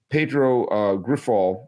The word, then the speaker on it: Pedro Grifol: It's funny because Pedro Grifol, which is, I believe how you pronounce his name, was the manager on